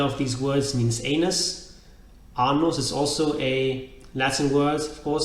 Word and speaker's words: anus: Anus is also a Latin word, of course, but anus has a long R sound at the beginning. The short R is annus, meaning old woman.